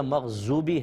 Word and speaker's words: مغضوب: دیکھیں بود ہے، مغضوب، بو اس طرح ادا کرنا ہے، زو ادا نہیں کرنا ہے، کیونکہ وہ کا تلفظ زوئے جس کو ہم کہتے ہیں وہ علیحدہ ہے، ذال علیحدہ ہے، زا علیحدہ ہے۔ بود کے اندر دال کی سی آواز نکلتی ہے لیکن پر آواز نکلتی ہے موٹی، مغضوبی، بولین، تو زولین کہنا، مغضوب کہنا یہ صحیح عربک تلفظ نہیں ہے، اس سے اجتناب کرنا